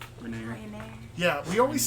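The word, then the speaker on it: Renaer: I'm pretty sure it's Rainier. It's A-E-R, not E-A-R. So it doesn't make the ear sound. It would make the air Renair. sound. Rainier.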